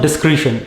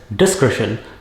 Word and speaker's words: discretion: It is not discretion. It is discretion.